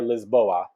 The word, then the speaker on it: Lisboa: want to hit up or as they pronounce it out there lisboa lisbon and porto are